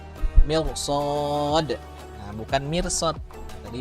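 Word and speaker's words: مرصاد: Nah, mirsotnya walaupun itu ro sukun sebelumnya kasroh, tapi setelahnya huruf isti'la ada huruf sod, maka ro-nya dibaca tebal. Mirsod.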